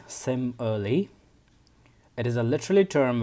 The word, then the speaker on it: simile: first figure of speech simile is pronounced as same early it is a literally